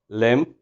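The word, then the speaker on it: limb: And one thing more, M और B जब भी आ जाते हैं साथ, तो हमने M के बाद निकालनी B को साइलेंट करना है, जैसे बॉम्ब, कॉम, टूम, लिम, एटसेट्रा.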